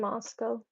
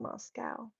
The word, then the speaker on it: Moscow: is in Siberia though white crow you're in mosow did you know that there's a Moscow Idaho it's spelled the same way white crow we pronounce it moso and not Moscow if I could live anywhere that I wanted